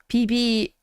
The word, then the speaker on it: Vivi: PB, the name Vivi would be pronounced PB.